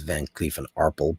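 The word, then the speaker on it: Van Cleef & Arpels: That's actually the current Kirk pronunciation is Van Clee and Arpel, but we won't say that.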